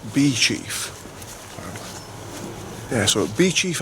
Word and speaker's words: Beauchief: place has actually spelled Bo chief apparently it's pronounced bee chief yeah so it'll be Chief Abbey what a